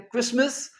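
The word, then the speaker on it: Christmas: क्रिसमस। सी एच आर आई एस टी एम ए एस। इसमें हम T pronounce नहीं करते।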